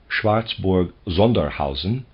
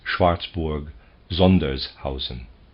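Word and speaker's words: Schwarzburg-Sondershausen: to name his Fatherland might easily have replied schwartzburg zusen or Zen or rice Schlitz or something similar I believe that is schwartzburg zers Housen forgive me end of the side at the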